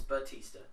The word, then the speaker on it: Bautista: It's Bautista.